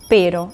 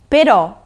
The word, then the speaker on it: però: Y atención a la pronunciación, no es pero, es pero, con el acento en la O.